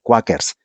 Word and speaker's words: Quaker: Nunca se pronuncia en español Quakers, de donde viene el Quaker que uno toma.